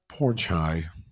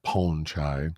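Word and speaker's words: Pornchai: down okay then poor pornai I was told I'm not saying the name correctly it's not pronounced porn it's like ponchai okay so poor ponchai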